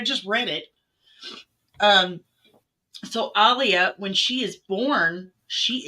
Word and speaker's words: Alia: that's it yeah Aaliyah so when Alia that Alia that's how you say it yeah I'm used